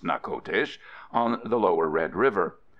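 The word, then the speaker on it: Natchitoches: Spanish French border near old Anna kodesh pronounced knuckle dish on the lower red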